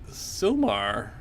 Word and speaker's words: Sylmar: the earthquake predicted by herby Bittman was the Sylmar so how you pronounce that how do you say it so